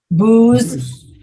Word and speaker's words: booze: watch what i'm typing the second word is pronounced like lose lose lose with a z do you know this